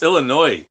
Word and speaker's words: Illinois: It's Illinois, idiot.